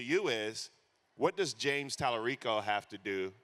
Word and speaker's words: Tallarico: My question to you is, what does James Tallarico have to do? Did I pronounce his name right? Yes.